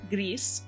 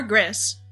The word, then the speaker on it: Gris: name of the game is gree how I would pronounce it in Spanish or GIS which is on sale